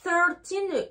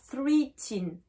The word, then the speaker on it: thirteen: toile thirteen donc pourquoi thirteen ne suis pas là en soi il se termine par tin mais du coup on n'utilise pas le chiffre 3 on dit pas free teen c'est thirteen voilà là